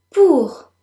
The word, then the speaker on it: pour: en, du, elle, au, pour. Don't forget the R at the end.